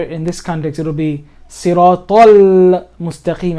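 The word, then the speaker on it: الصراط المستقيم: But here in this context, it'll be Siratal Mustaqim. I'm still pronouncing the lam. Now I'm emphasizing it so you can hear Siratal Mustaqim.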